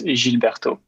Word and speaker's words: Gilles Bertaux: right all right i i'm gonna hold go old french and pronounce it by the way so it's gilberto interesting thing i was